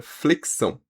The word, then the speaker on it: flexão: E vamos à análise, então, da palavra flexão. Flexão a gente tem seis letras e o destaque aqui é pra letra X, porque a letra X tem som de KS, flexão.